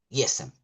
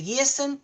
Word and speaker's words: Gießen: Supongamos que se pronuncia así, se escribe Giesen. Gießen.